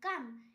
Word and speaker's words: comb: কোম, COMB কোম, এখানেও বি এর পর ভাওয়েল নেই তাই বি এর উচ্চারণ হয়নি।